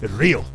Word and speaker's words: Ryu: name and he's like no no it's not it's not Ryu it's real and I'm like what it's not rayu it's real and I'm like oh